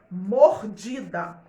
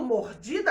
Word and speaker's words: mordida: Mordida. Falando mordida é simples, mas para você saber a sílaba tônica, que é o pedacinho mais forte, porque a gente vai ver assim, mordida, mordida, tem 3 sílabas, trissílaba, lembra?